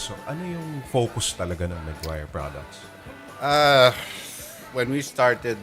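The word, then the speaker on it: Meguiar's: Maguire. It's like the movie Jerry Maguire.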